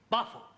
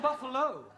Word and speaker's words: buffalo: a big bull oh Buffalo Carol confused yeah words that end in o like Buffalo or radio or vertigo you pronounce the O but when there is no o you don't add one understand yes I give up